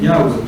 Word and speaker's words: Yahweh: Pero ¿cuál es la pronunciación correcta del nombre? Yahweh, Yud-Hei-Vah-Hei, Yahweh. ¿Sí?